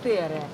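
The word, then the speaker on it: tere: Здрасте, это Тере. Финов Тере, да?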